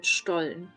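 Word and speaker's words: Stollen: one it's quite similar this is called stol St but the s t in standard German is um pronounced as a sh yeah so um both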